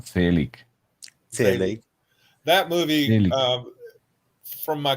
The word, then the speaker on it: Zelig: It's pronounced Zelig.